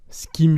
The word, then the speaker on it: ce qui me: Et tu vois, le ce qui me chagrine, le skim, donc c'est apostrophe qui i, apostrophe, si on peut le dire ainsi, m, se prononce exactement comme dans skim, skim through.